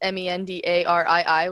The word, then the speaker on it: Mendarii: So it's Mendarii, which I think it's spelled underneath over here.